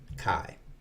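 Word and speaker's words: καί: appear like someone who says and in greek which i now do kai i hope that comes in handy to you it's spelled kappa alpha iota now you've learned something on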